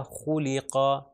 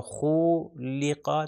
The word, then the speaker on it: خُلِقَ: تو اس کا تلفظ ہو جائے گا خُلِقَ، خُلِقَ. اس کو لمبا بھی نہیں کرنا. اگر میں کہوں خُلِقَ تو یہ بھی غلط ہو جائے گا، ملٹیپلائی بائی 1